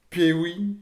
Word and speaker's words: Peewii: On va aller avec Pewi, c'est comme ça que ça se prononce, sur le son Bastard.